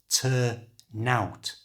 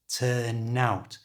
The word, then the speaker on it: turn out: native English speakers who pronounce it as one word by moving the n from the end of turn to the front of the o of out. So turn out becomes turn out, turn out.